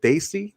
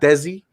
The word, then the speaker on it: Desi: And then I started correcting the pronunciation of the word Daisy, not Desi, not DC. I said it's Daisy.